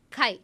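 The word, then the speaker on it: χ: extend X longitudinally sorry vertically uh you get Kai Kai Kai is a symbol Kai that's how we pronounce we pronounce that symol we call that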